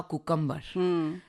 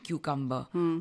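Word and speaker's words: cucumber: Show कर रहे थे, तो मैंने ना कहा कुकम्बर। तो मुझे ऑल इंडिया रेडियो में मैम ने बुलाया और कहा कि सिमरन जी ये ऐसे नहीं होता है, ये इसका होता है प्रोनाउंसिएशन क्यूकम्बर।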